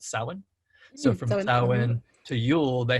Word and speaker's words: Samhain: it i know it's it's printed to say um samhain but we actually usually pronounce it salmon so from to yule